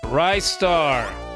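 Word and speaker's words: Ristar: Rightar. Spelled like it sounds. R I star together. One word.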